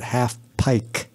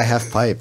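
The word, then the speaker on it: halfpipe: I wasn't even pronouncing it right. I was pronouncing it half pike. Really? Yes, because I'm a moron. Yeah. Yeah, half pipe.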